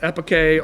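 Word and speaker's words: epoché: They believe that for every argument, there is an equally strong counterargument leading to a state of uh, I believe it's pronounced epicay or suspension of belief.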